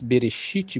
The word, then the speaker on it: Bereshit: Então, nessa pronúncia hebraica, bíblica antiga, lemos Berexit, Bará, Elohim, Et, Rachamaim, Viete, Aretes.